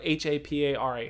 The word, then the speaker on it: Hapara: company called hapura or h-a-p-a-r-a hapara but harper is the actual new zealand pronunciation the maori i always pronounce that